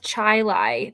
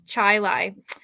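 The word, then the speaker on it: Chili: yes hen and also this is a funny thing it's north Chilai that's also how you know in Rochester yeah it's Chilai oh my gosh that's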